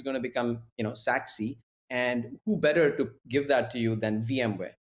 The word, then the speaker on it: SACSE: So it becomes S-A-C-S-E. And how does that pronounce?